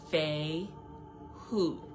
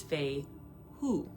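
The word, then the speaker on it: Fehu: But how you pronounce it is Fei Hu. Or, as I like to say, Fei Yu. Because of the U. But it's Fei Hu, technically.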